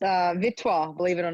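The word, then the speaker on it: Vittsjö: And yes, I've been saying Vitzio for about two months and no one understood what I was saying. And it's pronounced uh Vitto, believe it or not.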